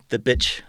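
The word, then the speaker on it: Bich: It's called a the shape that he's famous for is called the bitch 10-string, but it's spelled B-I-C-H, which is kind of a twist on BC Rich.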